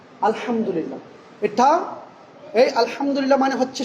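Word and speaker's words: الحمد لله: আলহামদুলিল্লাহ, আলহামদুলিল্লাহ।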